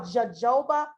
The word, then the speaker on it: jojoba: get this particular brand but this is called jojoba oil it's spelled j-o-j-o-b-a jojoba oil is awesome for those